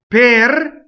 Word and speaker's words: per: Per, it does not rhyme with pear. It's per again. Right? So you make sure you isolate the vowel and then the R.